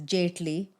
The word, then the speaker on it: Jetley: What do you guys feel about like when people like because it's pronounced the real pronunciation is Jetley, Yeah.